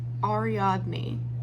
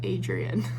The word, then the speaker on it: Ariadne: this is just me saying it's ariadne instead of Adrian it's one of the